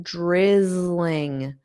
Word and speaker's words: drizzling: It's only drizzling. Okay. A lot of students can't pronounce this word here. Drizzling. So, let's just get that z and then ling zling zling zling drizzling drizzling drizzling.